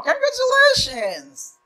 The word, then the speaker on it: congratulations: Toujours mettez S. Always add the word. Always add the letter S. Toujours mettez, ajoutez, lettre S là.